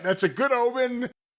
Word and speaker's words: Ohman: No, OHMAN. It's pronounced Omen, and that's a good omen. They're also some of the best-selling work boots that they have. That's right. That's a good omen.